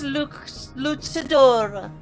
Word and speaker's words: luchador: Reconnaissance luchador.